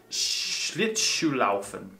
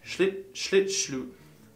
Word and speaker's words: Schlittschuhlaufen: with my S's, because in Germany, S's are pronounced a little differently when it comes to SCH. So this is wintertime, so you can go Schlittschuhlaufen. Schlittschuhlaufen.